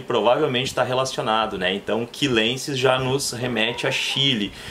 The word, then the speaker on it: chilensis: Vanellus, e aí eu não vou falar chilensis. Isso seria em português. Em latim vai ser quilensis.